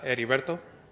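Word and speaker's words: Heriberto: your first name again Mr Boss it's uh ediberto uh you want me to spell it out or h-e-r-i-b-e-r-t-o thank you you're welcome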